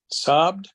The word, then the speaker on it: sobbed: Sobbed. Sobbed. Sobbed. Presten atención a que es un poco extendido el sonido de la vocal.